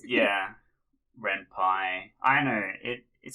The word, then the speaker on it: Ren'Py: So, you know I'm not a game dev because in my head I always pronounce Ren'Py Ren'Py. It's cuz it's short for Python. So, it's yeah. Ren'Py.